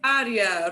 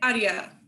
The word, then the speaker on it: área: start with Programa de área. Repite, clase. Programa de área. Programa de área. Programa de área. Muy bien. So the accent is on that first A, really hits it.